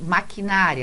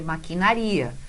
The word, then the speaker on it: maquinaria: gente tem maquinário aqui na verdade é maquinaria Então olha só esse assento não existe porque a gente faz maquinaria e com a sílaba tônica eurycomo da Melancia e o que a gente tem aqui uma paroxítona terminada em ar Então esse a gente